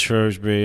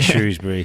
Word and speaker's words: Shrewsbury: There's a lot of people are like, "No, it's Shrosbury." And we talk about a lot on the show, but I say Shrewsbury. I say Shrewsbury. And I'm born and bred Shrewsbury. Right. And it's spelled Shrewsbury.